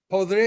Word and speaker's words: podría: Podría ir, I could go.